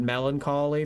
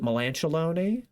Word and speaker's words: melancholy: my presentation I uh I wanted to say the word Melancholy for the first time and I panicked and I called it mean alone I added four syllables and I made it